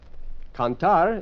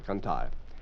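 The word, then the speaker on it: cantar: Canar is to sing. C a n t a r. Canar.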